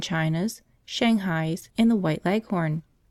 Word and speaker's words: leghorn: Shanghai's in the white leghorn phoebe when she pronounces this word leaves out the h embarrassed i'll heavily on the last syllable so that it rhymes with be gone as i was sitting